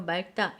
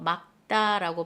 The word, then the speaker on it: 맑다: 요 말다. 요거 잘 봐주세요. 말다라고 발음하면 안 돼요. 막다라고 발음해 주세요.